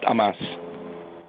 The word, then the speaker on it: Amas: middle initial is I last name is Alpha Mary Apple Sam pronounced amas thank you and cdtfa